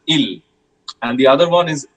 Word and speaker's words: il: So the ill form that is e l or i l as we say in English. This is pronounced as ill.